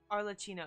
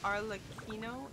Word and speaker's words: Arlecchino: I think Arlecchino is how it's pronounced. I think cappuccino sounds better. But I think you're right with the Arlecchino. Arlecchino.